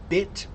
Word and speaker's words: bit: What's the difference in the mouth shape when you're pronouncing words like bit, bet, and butt? Watch me. Bit, bit, bit, bit, bit. Very small mouth.